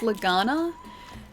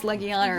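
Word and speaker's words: Legiana: and like Leana but I initially started pronouncing it as Leana and people were all laughing at me and then I looked up a pronunciation video and that's apparently the way that it's supposed to be said uh she died intentionally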